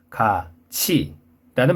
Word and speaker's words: 같이: 아니라 표의 주의로 적습니다 소리는 구개 화가 일어나서 가치라는 발음으로 나지만 이렇게 적지 않고 우리는